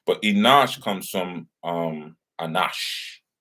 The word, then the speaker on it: Enosh: seth uh brought forth enosh and the reason why i have to pronounce it that way because sometimes people think enosh and enoch are the same but they're not um remember that when